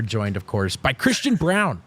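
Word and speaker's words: Braun: of course by Christian Brown It's pronounced Brown and look at the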